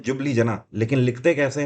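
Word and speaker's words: Ljubljana: एल से इसको लिखते हैं, JUBLJANA। नाम इसको कैसा पढ़ते हैं? जुबली जना, ठीक है। बट एल से ये चालू होता है, एल इसमें साइलेंट रहता है।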